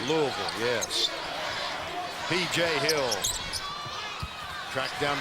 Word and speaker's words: Louisville: of the country now you say it right Louisville yes PJ hill Tracked Down by Buford jumper